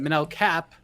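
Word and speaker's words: Manel Kape: scrap jose why doesn't manell cape or i guess as the ufc pronounced it menel cap why is he is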